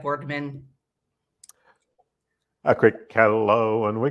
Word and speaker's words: Boardman: I'm here with bourman is that the correct way to say your name it is not it's bardman a quick hello and